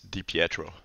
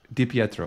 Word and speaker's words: Di Pietro: how do you say your last name it's dietro dietro okay makes sense it's uh I I think